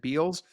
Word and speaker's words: Bealls: in Florida before I I would go back and forth as it Bells as it Beals but I just remember it's the bell and just call it